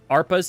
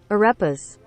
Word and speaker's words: Arepas: Husband and I said to make an ARPAs today, and they came out well. ARPAs? ARPAs? I don't know what that is either. Let's find out. Ooh, that looks delicious. Arepa? Pronunciation. That looks fucking delicious. Arepas.